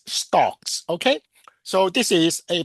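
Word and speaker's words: STOKMS: I pronounce it as stocks.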